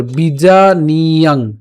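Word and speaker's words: বিজানীয়াং: এরপর বিজা নিয়াং, নিয়াং নট নিয়াম, ওই যে অনুসার আছে। সো বিজা নিয়াং।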